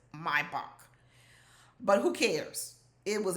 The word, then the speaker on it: Maybach: I think it's called Maybach. That's how the Germans pronounce it. Maybach, but who cares?